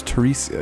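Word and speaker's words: Theresa: Oh, no, that's Teresa, even though it's spelled T-H.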